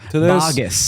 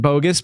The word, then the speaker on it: Baugus: And I mispronounced your last name. Baugus. Yeah, you literally just asked me how to say it. I asked it, and then I knew it wasn't bogus, but my brain did